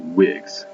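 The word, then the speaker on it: Whigs: hand became known as wigs all right now that's not like with the thing you wear in your head um pronounced the same way spelled differently uh but that's an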